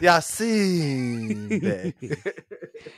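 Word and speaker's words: Yasiin Bey: Yasin Bey.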